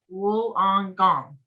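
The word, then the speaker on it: Wollongong: california and linda said it's pronounced wool on gong okay australia yeah australia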